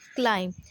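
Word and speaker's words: climb: that will be silent come to the next word that is क्लाइम the when you look at the spelling it इज़ सी एल आई एम बी क्लाइंब लेकिन जब आप इसे read करेंगे या loudly pronounce करेंगे तो it will be क्लाइम सी एल आई एम क्लाइम now come to dense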